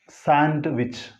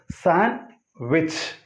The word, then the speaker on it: sandwich: In this word, D is silent. So sandwich. No, it's not like that. It is sandwich. One more way is the sandwich. Either sandwich or sandwich. So this is j sound, this is ch sound. Sandwich, sandwich. Two ways are there.